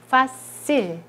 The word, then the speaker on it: facile: 이것은 facile. 자, 세가 이제 의 앞에 있으니까 이렇게 스 발음이 나는 거죠.